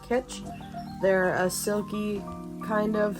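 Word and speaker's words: Kitsch: got these scrunchies from I believe it's pronounced kitch they're a silky kind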